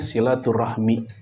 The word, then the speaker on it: silaturahmi: kata Silah dan ar-rahmu begitu digabung cara bacanya silaturahmi artinya Al ilaqah kaitan